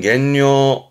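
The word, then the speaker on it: 減量: 양을 줄이는 감량의 발음은 겐뇨, 겐뇨.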